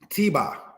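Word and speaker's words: Tebah: Tiba, said in the language as tebak, because again, emphasizing on this letter here, ket.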